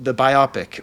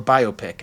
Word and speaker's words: biopic: been thinking about like the biopic or biopic, I don't care which one, you can pronounce it either way, as far as I'm concerned, of Drake.